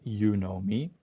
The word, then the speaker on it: Unomi: an apache project apache you know me as an open source customer data platform um and yeah the fun thing is that you pronounce it as you know me um and it allows